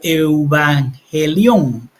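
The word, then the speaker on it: εὐαγγέλιον: hebreo desde la vivencia hebrea Miren la palabra evangelion pronunciada pronunciada como eubangelión evangelión es en griego y se suele traducir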